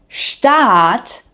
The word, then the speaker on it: Staat: Now, the word Staat, meaning state, has a long A.